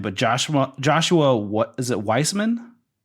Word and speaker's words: Weissman: uh I oh gosh I don't know to pronounce his last name but Joshua Joshua is it Weissman Weissman yeah yeah he has 8.9 million Subs I